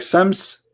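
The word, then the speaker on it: شمس: Aramaic, sometimes they pronounce the letter sheen as seen, like Sams and Shams.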